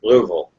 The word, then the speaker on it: Louisville: Put a golf ball in your mouth and try to say it.